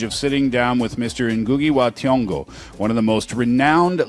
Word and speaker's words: Ngugi wa Thiong'o: name, and by the way, I think you pronounced it very correctly. Oh, thank you very much. I was worried about that. Yeah, Ngugi Wa Thiong'o.